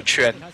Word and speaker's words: Chun: Chun. Am I getting it right? Yeah, just remember like how you pronounce chin, and you have this like ch sound, right? It's like it's just that. So Chun, yeah.